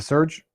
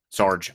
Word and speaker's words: Serge: That's how you pronounce it, right, Serge? Is it Serge? Sarge. Oh, sorry. Sarge.